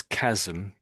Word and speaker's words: chasm: So we pronounce it as chasm.